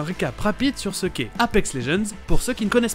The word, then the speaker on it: Apex Legends: Et Legends, c'est juste légende en anglais, avec le G qui se prononce J. Apex Legends.